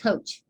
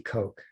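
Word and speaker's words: Koch: want to pronounce it coach yeah well it looks like coach but it it's german so in german it would be coke yeah yes and yeah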